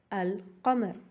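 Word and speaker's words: القمر: Having said that, when alif lam is added to a huruful qamariyya, that is a moon letter, then the lam is pronounced. For an example, al-qamar, al-khannas, al-ma, al-mustaqim, al-yawm, al-kitab.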